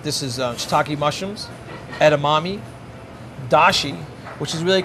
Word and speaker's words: dashi: is hockey mushrooms edamame dashi which is really called da she's the a Japanese based Universal stock in French kitchens chicken stock is in Japanese it's da shi da she's a combination